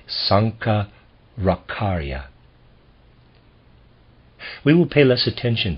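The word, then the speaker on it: Sankaracharya: Century A.D Sankar akarya I'm going to spell his name s-a-n-k-a-r-a-c-h-a-r-y-a I'm gonna pronounce that Sanka rakharya we will pay less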